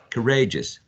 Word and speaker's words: courageous: if you see that the spelling goes like e o u courageous and you find out that these um all this combination of vowel sounds and the finals is basically a schwa and as so it's like us courageous you may apply this